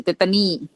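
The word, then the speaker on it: tetani: อ่าน ว่า เตตาน หรือ เตตานี่ ผม อ่าน เตตตานี่ เตตานี่ อ่าน แบบ ลาตเติน คอซีเดียม เตตานี่ โอเค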